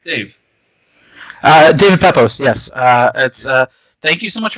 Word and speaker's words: David Pepose: Did I pronounce that right, Dave? David Pepose, yes.